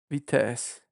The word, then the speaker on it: Vitest: So VTest sound a lot like Vitesse. How do you pronounce? It's a Vitesse. The final is silent. Okay, so you pronounce the S.